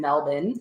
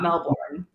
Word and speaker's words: Melbourne: so his family's in Melbourne is how they say not Melbourne don't say it right Melvin um Melbourne so we definitely would